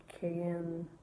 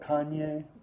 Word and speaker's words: Kanye: say his name wrong, Cayenne, is it Cayenne or something like that? Oh, Kanye.